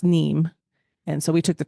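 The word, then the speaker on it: Nîmes: train to Nim we took the train to neem sorry NE I believe they say ne and how do you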